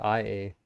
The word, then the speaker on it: Ea: A well I is pr is spelled a y a but you're right it sounds like I a using a cool oh technically inko is not a shepherd.